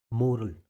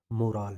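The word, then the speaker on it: morale: Second है इसका मोरल, मोराल sorry, इसका प्रोनाउंसिएशन होता है फ्रेंड्स मोराल।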